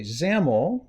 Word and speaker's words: XAML: building user interfaces okay zaml which rhymes with camel stands for XML application